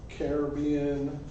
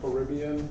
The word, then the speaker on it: Caribbean: how we get that cool Caribbean or Caribbean depending on how you want to pronounce it or if you're a pirate you would probably draw out the r Caribbean why does it take